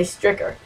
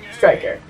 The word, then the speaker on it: Striker: striker is spelled wrong a lot of people say stricker it's supposed to be striker swift striker now the